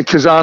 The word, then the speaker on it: Kazan: I've got a friend, because I think, is it Kazan? Is that how you pronounce the... Yeah, Kazan, I was at, Kazan.